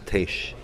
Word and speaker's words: Tiesj: It's Tiesj. Tiesj, yes. Just Tiesj.